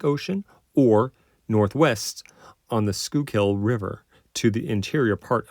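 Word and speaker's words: Schuylkill: he located it where the skill pronounced skill River and the Delaware River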